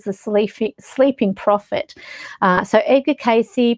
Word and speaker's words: Cayce: So Edgar Cayce, pronounced Cayce, was born in 1877 and he left us in 1945.